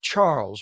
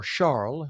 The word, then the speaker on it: Charles: Investigators say 36-year-old Georgie Charles or Charl, I believe he is Haitian. Uh so hence the pronunciation Georgie Charl of Jersey